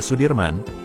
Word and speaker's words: Soedirman: dalam memperjuangkan kemerdekaan Indonesia Jenderal besar Sudirman menurut ejaan Suwandi dibaca Sudirman Ia merupakan salah satu